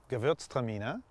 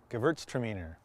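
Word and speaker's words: Gewürztraminer: pronounce this one well the german pronunciation is gewurztramina and the english would say gewurztraminer and it only takes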